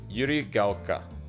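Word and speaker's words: 百合ヶ丘: This, even though it looks like a small katakana K, this is actually pronounced as like ka.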